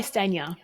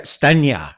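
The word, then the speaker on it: Stanier: So you're running an event coming up later this year with Michael Bungay Stainer. Is that how you say it? Michael Bungay Stania. Yeah, Stania, right?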